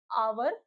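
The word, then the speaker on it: hour: बताया था मैंने कि जो आवर में एच जो होता है वह साइलेंट होता है। ऑनेस्ट में भी हमारा एच हमारा साइलेंट होता है। ऑनर में भी हमारा एच साइलेंट होता है। हम इसको आवर ऑनेस्ट और ऑनर पढ़ते हैं।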